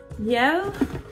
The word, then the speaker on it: Mielle: Mielle, is that how you pronounce it? I'm pronouncing it the French way.